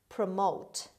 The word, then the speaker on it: promote: word number two promote promote promote the stress is on m on second syllable promote means raise in